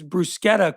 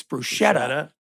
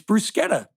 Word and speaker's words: bruschetta: M uh Brandon says brusquetta correctly. And they correct him and say it's bruschetta. But he's right. It's brusetta.